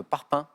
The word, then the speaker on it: parpaing: Et G, cette consonne qui n'est pas prononcée, à la fin, par exemple, de parpaing.